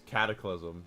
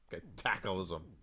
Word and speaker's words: Cataclysm: And then she realized after because everybody was telling her, uh, it's not cataclysm, it's cataclysm. And then she kind of was like, oh, I feel stupid now. Cataclysism.